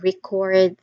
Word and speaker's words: record: I need to record this meeting. Again, I need to record this meeting. That is the verb use of that particular word. Record. The stress is on the second syllable.